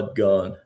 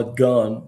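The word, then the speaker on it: Gonne: Now, now, interestingly, before Ma Gone was Ma Gone. And when I knew her, her last name actually rhymed with gone.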